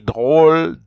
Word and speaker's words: drôles: Drôle is funny, des drôles. But you see, I don't even pronounce the E-S, I just pronounce D-R-O-L. So that's why I say des drôles de poissons, some funny fish.